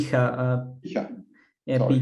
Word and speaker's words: Picha: Picha. Picha. Yeah, Sorry. Picha is one of the most vulgar words in the Czech language, so be aware of the pronunciation.